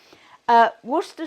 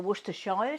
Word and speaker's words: Worcestershire: making something like this worcester sauce or worcestershire sauce as it's pronounced over here will give a different